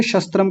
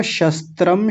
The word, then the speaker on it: शस्त्र: अ शस्त्रम शस्त्रपाणयः शस्त्रपाणयः और मैंने बताया तालव्य शकार और दंतीय सकार दोनों एक साथ आ रहे हैं तो दोनों का अलग-अलग उच्चारण ठीक से होना चाहिए। शस्त्र कुछ लोग बोल रहे थे शस्त्र शस्त्र दोनों जगह कई बार तालव्य लगा दिया। शस्त्र ऐसा नहीं शस्त्र पाणयः पाण्यः नहीं पाणयः